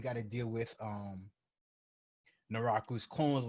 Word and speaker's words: Naraku: mean no i always pronounce this as a name wrong or naraku there we go naraka was just an annoying